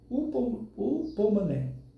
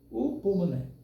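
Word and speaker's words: ὑπομονή: Essa palavra grega, em grego, se pronuncia o o pomané. Upomané.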